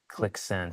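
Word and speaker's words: Qlik Sense: Click Clicksense.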